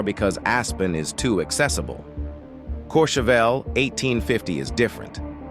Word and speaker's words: Courchevel: Which brings us to the second most private neighborhood on Earth, Courchevel, 1850, France, pronounced Courchevel.